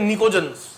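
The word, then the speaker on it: pnictogens: नाइट्रोजन family को बोला जाता है निकोजंस। पी साइलेंट है।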